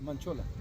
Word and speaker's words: Manchola: Is that right, William? No. Manchola. Manola.